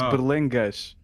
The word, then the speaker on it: Berlengas: It's Berlengas. How do you spell Gej? It's just an S. Every time you see an S in a Portuguese word, it's pronounced SH. Most of the time.